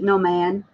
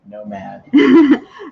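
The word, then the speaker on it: Nomad: gonna be she said no mad um normally she says the antique no man he's like no it's no mad look it's my eyeballs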